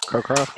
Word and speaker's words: Cockcroft: Cockcroft, yeah.